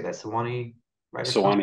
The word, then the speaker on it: Sewanee: Graduated New School University's MFA program and was a Tennessee Williams Scholar at the, how do you say that, Sewanee Writers Fund. Sewanee, that's it.